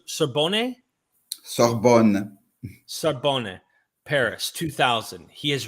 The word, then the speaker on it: Sorbonne: And is this pronounced Sorbonne? Sorbonne.